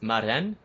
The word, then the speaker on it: Marijn: Is your name pronounced Marijn?